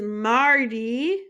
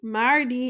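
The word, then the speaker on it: mardi: Lundy so Lundy is Monday Lundy next is Marty Marty is Tuesday Marty up next is Mery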